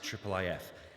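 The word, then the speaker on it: IIIF: of uh this uh which we usually pronounce as triple and at its core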